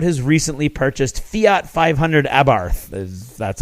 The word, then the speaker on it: Abarth: was talking about his recently purchased Fiat 500 Abarth that's how you say it and uh can